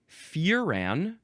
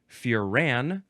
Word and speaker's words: furan: The next word is furan, or furan, emphasize either syllable.